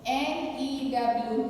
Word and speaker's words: knew: This N-E-W new, K-N-E-W new. Both are pronounced as new.